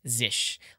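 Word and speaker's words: zsh: And one thing I'm going to do is say configure zish as the default shell because I didn't show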